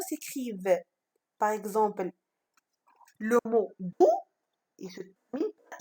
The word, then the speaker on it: doux: Donc, si je transforme le mot doux en féminin, donc lorsque je transforme le mot doux en féminin, donc je dis douce, ça veut dire ici, je ne trouve pas X dans le mot douce.